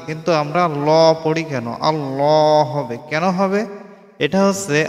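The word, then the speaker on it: الله: এটা হচ্ছে আল্লাহ শব্দ আল্লাহ শব্দের উপরে যে তাসজিদ আছে তাসজিদের উপরে খাড়া জবর এই খাড়া জবরের ডান পাশে যদি জবর অথবা পেশ থাকে তাহলে ল উচ্চারণ হবে।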